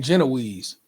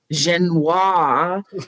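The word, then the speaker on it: génoise: Nick Jude, don't be getting all British and saying Genoese.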